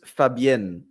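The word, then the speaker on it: Fabienne: I'll say so it's Fabian f a b i e n e that's how you say it so it's Fabian yeah Bruce Willis completely butchers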